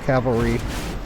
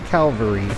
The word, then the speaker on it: Cavalry: imagine like a goat Cavalry not Calvary that's the pill the skull where Jesus was crucified then but um Cavalry